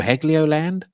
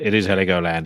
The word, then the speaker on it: Heligoland: I think is it Heligoland or Heglioland? Yeah, I think it's Heligoland. I have no idea how to pronounce it. The album that I listened, I don't know how to pronounce that either, but that's like Mezzanine. Is that how you pronounce it? Yeah. I think that's like, and you were correct. It is Heligoland.